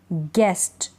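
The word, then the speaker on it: guest: तो इस प्रकार से इन सारे स्पेलिंग्स में हम जी यू को ग पढ़ रहे हैं, क्योंकि जी यू के जस्ट बाद में क्या है, स्वर है।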